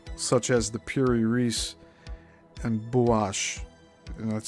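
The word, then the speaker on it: Buache: Hence the existence of maps such as the Pirase and Buash and that's spelled B U A C H E and parenthesis.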